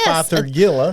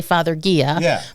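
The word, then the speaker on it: Fothergilla: heard say father Gia but it is Father Gilla so f o t h e r g i l l a and the reason that it is Father Gilla and not father Gia is because it is named after one Dr fathergill from England there we go so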